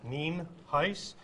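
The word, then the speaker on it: Nienhuis: hernando county sheriff ninhais it's spelled n-i-e-n-h-u-i-s and it's pronounced nien heiss we also have a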